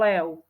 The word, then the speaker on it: lev: na konci slova napríklad slovo lev píšeme ho s u nie zviera lev píšeme na konci z v ale čítame tam u lev napríklad Ďalšie slovo spev